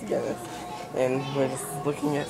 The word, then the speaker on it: Guinness: Yeah, it's Guinness.